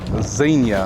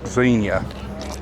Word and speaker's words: Xenia: It's Xenia, like a Z, not X, like Xenia, even though it's spelled Xenia.